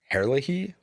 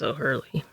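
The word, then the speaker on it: O'Herlihy: Herlehey. Herlehey. Ohurly. But there's like a there's like a a second H in there. Yeah, but it's an Irish name. I think it's Ohurley.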